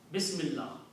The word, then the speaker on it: Bismillah: Why are we not pronouncing two lams, two L's there?